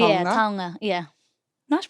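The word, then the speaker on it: taonga: Tonga. Yeah. Tonga. Yeah. Nice pronunciation.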